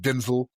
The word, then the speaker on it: Denzel: I like I like Denzel. That's how you say his name apparently is Denzel. Denzel. He said that years a So like like people been saying Denzel.